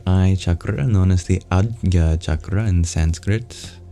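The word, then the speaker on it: आज्ञा: chakra known as the adga chakra in Sanskrit difficult to pronounce j next to a palatal nasal sound AA here is a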